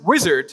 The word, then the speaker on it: Uizard: out of the way it's pronounced wizard but it's spelled with u and needless to say